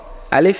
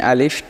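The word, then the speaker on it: ألف: এক নম্বর বলতেছে দুটি হরফ আলিফ এবং হামজা টান হবে না।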